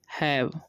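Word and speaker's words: have: टू इसे टो नहीं पढ़ना है, इट, एज दे हैव इसे हैव पढ़ते, क्या पढ़ते हैं हम लोग, हैव, देखिए ई साइलेंट हो जाता है, ठीक है, और ए का उच्चारण हो जाएगा आई, तो हैव ए, ठीक है।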